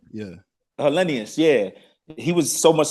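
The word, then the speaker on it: Helenius: Olenian? Yeah. Hellenius, yeah.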